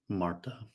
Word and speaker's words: Martha: Yeah, It's spelled Martha, but I guess the H is silent where she's from. Marta.